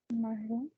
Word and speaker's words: marron: Now, give me the pronunciation of this one, please. Marron.